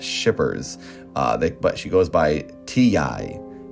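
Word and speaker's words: Tiyi: Her name is Antoinette Shippers, but she goes by T.I. It's T-I-Y-I, Shippers, and she pronounces it T-I.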